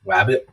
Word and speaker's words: wabt: into the picture so it's abbreviated as wabt but it's pronounced wabbit uh it's a popular